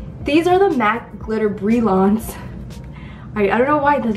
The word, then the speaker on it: Brilliance: No, Brilliant? Brilliant? Brilliant? No. Well, how do you say that? There's no I in that. Well, it's this. The Glitter Brilliance. This is actually bothering me. Let me Google it. Brilliance. Oh, Brilliance. Okay, I never heard of